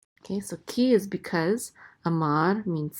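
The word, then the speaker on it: אמר: And then we have an aleph with a kamat, which says a, and this is a mem with a patak, which says ma, and the resh closes the syllable out to say mar, amar, and that means said.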